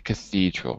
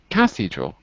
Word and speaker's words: cathedral: So Luo, you said you might see this in a cathedral, right? Yes. Cathedral, not cathedral, but cathedral. The second syllable, cathedral.